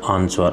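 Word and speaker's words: answer: Avon next question is which is the silent rater in the word आंसर आंसर में जो कौन सा शब्द एक मूख अक्षर है तो आंसर शब्द में जो एक साइलेंट वर्ड है या मूख जो अक्षर है वो है डब्लू तो राइट आंसर इज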